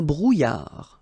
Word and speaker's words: brouillard: Un brouillard. Final D not pronounced.